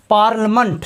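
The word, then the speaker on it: parliament: बोला जा रहा है पार्लिमेंट मे होता है संसद यहां पर आई का साउंड नहीं बोला जा रहा है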